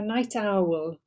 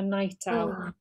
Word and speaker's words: night owl: Okay, sometimes with those words, you tended to stress the second. You said I'm a night owl.